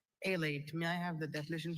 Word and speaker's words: alate: Alate, Alate.